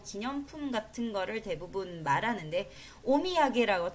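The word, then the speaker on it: お土産: 같은 거를 대부분 말하는데 오미야게라고 토산이라고 읽지 않습니다. 오미야게라고 읽을 거예요.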